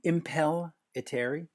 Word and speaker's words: Impellitteri: and Rob speaking with Chris and Rob from impel eteri that is that how you say the name perfect pronunciation they did better than I do yeah well name but you did it impelliteri involuntary there you go up bands been around